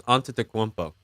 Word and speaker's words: Antetokounmpo: How do you pronounce Greek freak's last name? I believe it's Antetokounmpo. Antetokounmpo. Yeah.